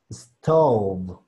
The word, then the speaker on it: stove: Entonces, es muy diferente B a V, V, V. Así que, si pueden, traten de mojar un poquito sus labios, para que pueda dar el sonido. V, v. Y la palabra tiene que darnos stove.